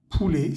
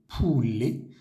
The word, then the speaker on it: poulet: un se pronuncia a pule sin pronuncia la t pule y la palabra roti